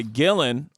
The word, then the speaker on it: Gillen: so let's end by Gillen rhymes with villain thrilling penicillin at Gil dozer Dylan